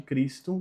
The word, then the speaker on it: Christum: O CH de Christum tem som de K, Christum.